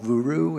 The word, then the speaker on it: Vuru: That was the worst pronunciation I think I've ever heard. It was Vuru, V-U-R-U.